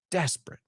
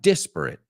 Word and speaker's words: disparate: you're pronouncing it right and the second one disparate diss not deaths desperate pronunciation is kind of the same also there are some people I think that say disparate and other people say disparate but either way it's not desperate right desperate so this